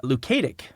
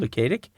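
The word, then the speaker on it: Luketic: film was directed by Robert lukic I think is how you pronounce his name lukic it was his first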